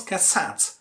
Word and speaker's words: cassette: For example, when you pronounce cassette, you stress the second syllable, which means you make